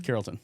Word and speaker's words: Carrollton: That I'm mispronouncing. What is it again? Carrollton.